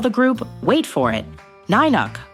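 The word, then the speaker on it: Nynuk: Now, before they became the new kids on the block, Star decided to call the group, wait for it, Ninuk, pronounced Nanuk.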